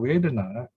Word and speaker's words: vedanā: This word is very interesting because vedana comes from the same root, comes from the root wit, meaning to know. And you know the English word wit, W-I-T, sounds the same even.